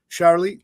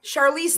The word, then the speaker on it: Charlize: Uh I I always I always mispronounce this lady's name. She's a great actress. Charlie Charlize? Yep. Yep. Charlize Theron. Theron.